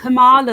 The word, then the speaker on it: Kamala: Isn't it Camelina or something like that? I don't know how to say it. Camel Toe Harris, yeah, but what's the proper name? I have no idea. Kamala, that's it.